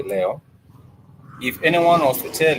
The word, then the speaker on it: Leo: Also, we do have what we refer to as Leo, which sounds pretty much and it's spelled pretty much like the star sign Leo, but in Swahili we do say it Leo for Leo.